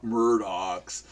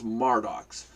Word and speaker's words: Mardox: place at em Murder murdoch's and it's like it's not it's that spell em er it's felt ma are spells pronounced mar docks you know and there's